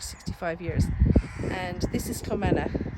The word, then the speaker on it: Clomantagh: And this is Clomantagh, Clomantagh, it's pronounced Clomantagh, and the castle is called Clomantagh Castle.